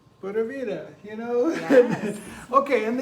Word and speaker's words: pura vida: you can kind of just say it like P-O-O-D-A, vida, pura vida. And it'll sound more like a Tico, a little bit more like a Tico.